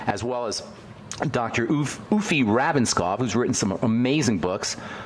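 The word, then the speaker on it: Ravnskov: Ufi Ravenskov, who's written some amazing books about the stupidity of the cholesterol hypothesis.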